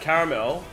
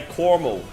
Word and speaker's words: caramel: is caramel yeah I know I know it's pronounced caramel all right but Americans say cormel I got my cormel lto and then you